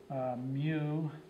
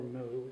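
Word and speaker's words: μ: that it's spelled mu you can pronounce it either like a cow which is the Latin Bas pronunciation or Mew which is often the of inless Mew or moo either way is fine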